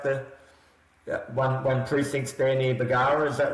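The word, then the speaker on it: Bargara: I've heard about Bagara, is that how you pronounce it? Local Yeah, beach Bagara.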